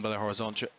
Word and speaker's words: Belo Horizonte: In my brain, ONTE does not get pronounced ch. I didn't find out that was a ch sound until about 5 minutes before we went live.